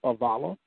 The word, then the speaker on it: Avila: It looks like Avila, but it's pronounced Avala.